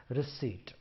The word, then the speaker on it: receipt: So it's pronounced as receipt.